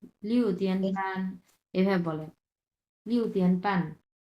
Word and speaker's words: 半: লিহুতিয়ান প্যান এভাবে বলে, লিহুতিয়ান প্যান। প্যানটা হচ্ছে 4 নম্বর টোন।